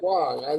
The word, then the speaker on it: Timucua: Timucua, but that's fine. Don't worry about it. Timucua, that's Yeah.